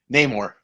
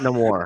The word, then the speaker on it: Namor: How do you say Namor? Namor. Not no more.